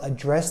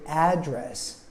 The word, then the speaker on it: address: in both sentences, but the first sentence I said address, where I emphasize the first syllable and it has an a sound like apple. But the second one, I said address. I emphasize the second syllable.